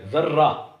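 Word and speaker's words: ذرّہ: ملتا جلتا لفظ ہے ذرہ، یعنی اس میں بھی زال پر زبر ہے لیکن رے پر تشدید ہے، شد ہے، تو ہم اس کو ذرہ یعنی اس تلفظ کے ساتھ پڑھتے ہیں اور اس کا مطلب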